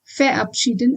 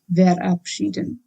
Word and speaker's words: verabschieden: V is pronounced as V in German, and that's why it is verabschieden and not verabschieden. Also, ER should be pronounced as ear, and that's why I said verabschieden.